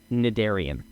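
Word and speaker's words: Cnidarian: just types the word, I believe it's pronounced Nidarian. There's a silent C in the front, and from what I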